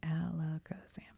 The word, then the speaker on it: Alakazam: Pokemon let's make sure I'm saying it right Alakazam yep alakazam's brain never stops growing its head has to